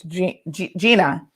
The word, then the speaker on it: Gina: We know that Jean, my apologies for, I always want to say her name is Janine, but it's Gina Williams declared.